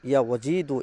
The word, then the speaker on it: ইয়া ওয়াজিদু: তাআলার পবিত্র গুণবাচক নাম ইয়া ওয়াজিদু। সঠিকভাবে উচ্চারণ করবেন ইয়া ওয়াজিদু।